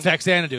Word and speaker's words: Faxanadu: So, how do you pronounce this game? Faxanadu? Faxanadu.